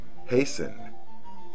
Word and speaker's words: hasten: being pronounced centuries ago you should never pronounce the T in the following words listen never listen hasten never hasten fasten never fasten soften never soften for